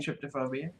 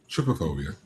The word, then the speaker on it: trypophobia: Well, I think I'm saying tryptophobia.